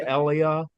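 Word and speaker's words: אליה: And then his middle name, it's spelled like Elijah, but it would be Elia, which is yode vi is my god.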